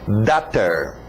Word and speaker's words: daughter: Alright, lembra da pronúncia de water? Então só muda o W para um D. Daughter.